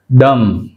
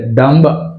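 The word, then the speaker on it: dumb: డమ్ డమ్ అంతే, డంబ్ డంబ్ అనకూడదు. Right, డమ్.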